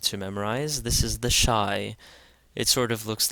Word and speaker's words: Shai: Shai this is the Shai and it's pronounced sh as in shake and this is one